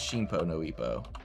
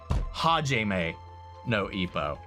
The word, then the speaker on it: Hajime no Ippo: I think it's Shinpo no Ippo. Fuck. Help me, Google. Shin no Ippo. I was adding a whole extra syllable.